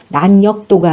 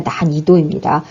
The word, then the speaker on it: 난이도: 또 난이도 할 때는 어려울란, 쉬울이, 법도도, 어렵고 쉬운 정도니까 난역도가 아니라 난이도입니다.